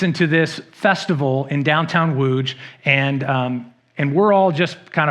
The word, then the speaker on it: Łódź: And we went to Poland to do some mission work where we worked in a town called Łódź, spelled L-U-T-Z, pronounced Łódź.